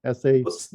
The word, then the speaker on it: Sacha: No, it's Sacha. Yeah. Oh, Sacha. It is Sacha. It's soft. Yeah. So I've been mispronouncing it this whole time. Okay. That's okay. I like to say that it's the same as you would pronounce Sacha Baron Cohen, because if I could